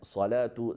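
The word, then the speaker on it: صلاة: So whenever we have on the top of waw that alif maqsura, that waw is silent, and instead of waw we pronounce alif, like salatu, zakatu.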